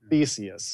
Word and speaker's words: Theseus: Theseus, yes.